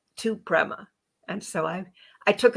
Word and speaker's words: Prema: she's going to tell us all about it Prima welcome to the show Prema Prema still said it wrong how to say